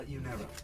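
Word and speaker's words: Yunero: Uh, Uniro. Uniro. Uh, how do you spell that?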